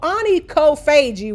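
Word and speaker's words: onychophagia: Okay, so Anie Kofagi, which is how it's pronounced, but you can see the word chop right there in the middle.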